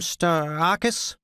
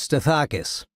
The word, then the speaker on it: Stathakis: "Stathakis?" he said, mispronouncing my name. "It's Stathakis. Who's this?"